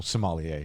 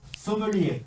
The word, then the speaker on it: sommelier: You'd be a terrible sommelier.